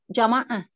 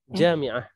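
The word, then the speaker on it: جامعة: Jamaah. jami'ah. Bukan. Itu Jami'ah. universitas.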